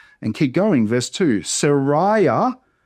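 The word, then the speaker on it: Seraiah: Sariah. So the ai makes the same sound as it would in English. Sariah and Azeriah.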